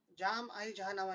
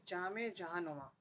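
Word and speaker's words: جام جہاں نما: फिर अच्छा, ये है जाम आई जहानामा, नहीं है जामे जहानुमा.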